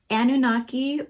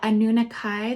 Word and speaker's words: Anunnaki: going to do a annunaki or anunnakai there's a couple different pronunciations of the word anunikai starseed origin reading